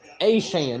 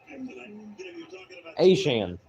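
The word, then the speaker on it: Achane: of the for down asan that's how you pronounce his name asan he's played for the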